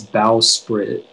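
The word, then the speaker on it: bowsprit: please yeah so uh the only pronunciation is bow spirit it's a noun and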